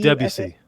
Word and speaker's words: Debussy: How do I pronounce this guy's name? Oh, Debussy. Debussy.